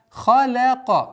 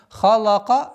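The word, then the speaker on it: خَلَقَ: Вама халяка. Обратите внимание сюда. Лям мягкий звук между двумя твердыми звуками. Ха и каф. И поэтому халака нет. Халяка. Халяка.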